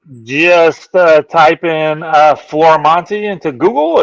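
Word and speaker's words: Florimonte: on the interwebs just uh type in uh Flora Monty into Google it's f-l-o-r-i-m-o-n-t-e I know it's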